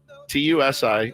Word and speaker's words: Tusi: Everyone's saying it potentially is is called um Tusi, TU SI, and I looked, it's how you pronounce it, Tusi.